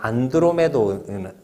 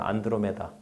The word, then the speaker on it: 안드로메다: 발음이 옛날에 내 어릴 때는 뭐 은하철도 구구 해 가지고 안드로메도 뭐매다 뭐 고개에서 뭐 이렇게 했다고 뭐 이렇게 나오긴 했는데 너희가 뭐 아마 가장 많이 들어봤을 거야. 안드로메다 그 우주 무리를 지어